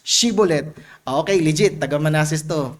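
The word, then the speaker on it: Shibboleth: Sabihin mo nga Shibulet. Sinabi nung taga Manases, Shibulet. Nabagis niya, nabigkas niya yung SH. Shibulet.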